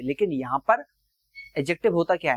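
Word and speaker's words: adjective: Verb को यूज करें एडजेक्टिव के तरीके से, इसको एडजेक्टिव मत बोलना, डी साइलेंट होता है, एडजेक्टिव कहा जाता है। डी साइलेंट होता है, एडजेक्टिव नहीं होता, याद रखना।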